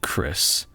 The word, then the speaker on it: Chrys: name tag huh so it's pronounced like Chris but you spell it like chrysanthemum that's pretty sick oh